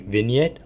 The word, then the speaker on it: vignette: with some setting like I didn't in a vignette I think that it that's how it's supposed to to be pronounced but it is basically v i g